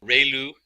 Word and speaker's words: ReLU: We have the sigmoid function, we have just a standard step function, we have the ReLU, it's pronounced like ray, the ray from the sun, and lu, like a name, so ReLU function.